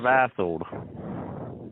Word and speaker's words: Vassold: It's Officer Vassold. Vassold. Spell that.